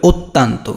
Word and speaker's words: অত্যন্ত: তাহলে যে এটা উচ্চারণ করতে হবে এভাবে, অত্যন্ত। কীভাবে উচ্চারণ করতে হবে?